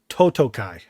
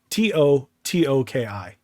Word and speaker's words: Totoki: Well, if I'm not mistaken, there was they did announce the interim CEO position, and it's Hiroki Totokai. I think I'm pronouncing that correctly. It's Hiroki Totoki.